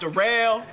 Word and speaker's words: Darrell: up oh yeah uh my name Darrell is spelled like Daryl but it's pronounced the rail uh yeah I just